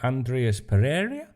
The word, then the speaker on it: Andreas Pereira: keita will miss Wednesday's rearrange fixture Fulham pair Andreas Pereira is how he pronounce his name and Tim ream are out